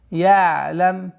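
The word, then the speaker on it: يعلم: Алам я'лам би анна Аллаха яра. Алам я'лам. Айн мягкая, такой скользящая остановка. Я'лам, я'лам, чтобы не было.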